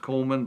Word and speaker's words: Cowman: It's pronounced Coleman, but it's spelled Cowman.